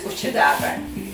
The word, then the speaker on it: Cuccidati: Cuccidates, I pronounce it cuccidates. A Sicilian word is cuccidati. I dolci alla di fico. Okay, I like cuccidate better. Cuccidati is better.